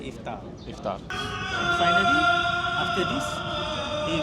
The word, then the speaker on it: iftar: pour ce soir but in Malay we don't pronounce to two th just say iftar iftar finally after this